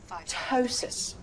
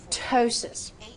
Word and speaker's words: ptosis: Now, this next one is ptosis. Ptosis. So ptosis means drooping or sagging. Now notice that I did not say the P at the beginning of this word.